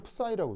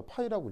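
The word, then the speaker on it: ψ: 이거 읽을 때는 푸사이라고 읽습니다. 원래 이름은 푸사인데 파동 함수를 나타내는 수식을 이게 푸사이라고 읽습니다. 근데 이제 푸사이라고 읽는데 이거 이제 약간 묵음처럼 처리해서 파이라고 읽기도 합니다.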